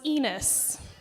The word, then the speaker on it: Enos: His last name was Ridgway, and my maiden name was Enos. Yes, rhymes with penis.